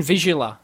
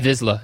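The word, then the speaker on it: Vizsla: Open Visula. V-I-Z-S-L-A. There's no U in there. Huh? Okay. Open, yeah. Visla, yeah.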